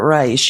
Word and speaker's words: Reich: message of Bernie Sanders meet Robert Rice it's spelled like Reich re I he is a genius